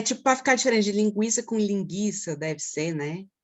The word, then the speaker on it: linguiça: Linguiça. Você consegue ouvir, ó, o U, ó, linguiça.